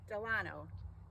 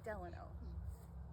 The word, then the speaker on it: Delano: It's Delano, or Delano. A lot of people confuse how to say this name, but I think of Franklin Delano Roosevelt, so I say Delano.